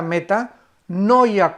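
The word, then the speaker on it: μετάνοια: del griego y es la palabra meta con m de mamá como si fuera meta meta no ya con n de nancy no ya como se escribe meta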